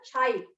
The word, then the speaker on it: chi: It is pronounced as a chi. Chi gadu. It's pronounced as a chi. C-H-I, chi. And it is not x.